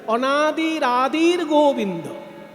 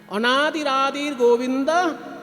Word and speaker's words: অনাদির আদির গোবিন্দ: উপরে রেপ হয়ে যাবে তাই উচ্চারণ করতে হবে অনাদির আদির গোবিন্দ অনাদির আদির গোবিন্দ সর্ব কারণ কারণ সমস্ত সমস্ত কারণের তিনি কারণ।